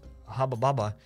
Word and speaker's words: Hubba Bubba: Lol, it's Hubba Bubba. I didn't know that that's how people pronounce it. That's how he pronounced it in Lithuania. It's Hubba Bubba, and it'll always stay Hubba Bubba.